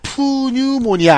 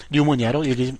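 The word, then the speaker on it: pneumonia: 폐렴은 왜 중요하냐면 스펠링이 이렇게 시작되는데 이 P가 묵음이에요. 자, 그래서 이렇게 쓰고요. 읽어보도록 합니다. 어떻게 읽으면 돼요? 자, 푸뉴모니아 아닙니다. 그냥 뉴모니아로 읽으시면 되겠어요.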